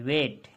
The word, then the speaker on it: weight: देखिए ये क्या है ये वेट है WEIGHT वेट। तो इसमें जो साइलेंट वर्ड है आपका जी है, इसमें आपका जी जो है साइलेंट वर्ड है।